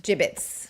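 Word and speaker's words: Jibbitz: Uh it's g i b b e t would be a jibbit. Okay, so this is jibbits with a z. It's the same pronunciation.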